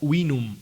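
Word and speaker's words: vinum: vino era wium escrito con ubes pero se pronunciaba winum y a nuestros días llega como V no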